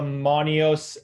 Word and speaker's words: Monios: And that is the Monios L grow light. So Monios is spelt MONIOS-L.